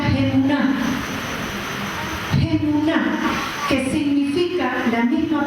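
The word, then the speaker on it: אמונה: Nos enseña que hay una fe que es esta a la que hemos sido llamados, que en hebreo se pronuncia Gemuná.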